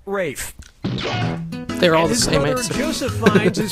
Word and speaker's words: Ralph: yourself yep ra Fine's first name is spelled like Ralph but pronounced Rafe they're all Joseph findes